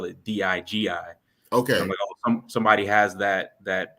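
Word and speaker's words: Dygi: to spell it so it's pronounced Digi but it's spelled d-y-g-i I love it I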